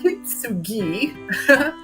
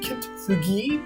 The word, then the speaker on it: Kintsugi: get this right, the Kitsugi Inspiration Sweet Collection. I had to look that up. Like I I was not saying it like kitugi, but I have practice and so that's how you say it.